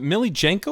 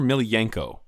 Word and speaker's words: Miljenko: And by by the way, I don't how how do you pronounce is it Millie Jenko or Milenko?